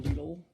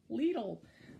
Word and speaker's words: Lidl: This kit that came with one was actually like $10, $12 from Lidl. Lidl. I've told that's how it's pronounced. I don't actually know. I've always called it Lidl, but apparently it's Lidl.